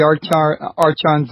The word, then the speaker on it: archon: Could you explain to us who the archons are and what their goal is? Yeah, the word is archon, so the CH is pronounced as a K.